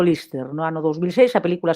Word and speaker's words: Liste: Mira, eu empecé a traballar con Mercedes Peón precisamente para Lister, pronunciado Lister, no ano 2006, a película sae no 2007.